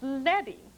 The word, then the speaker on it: leading: desktop publishing book and someone calls it lady and you can say no no no it's letting not leading now we use the same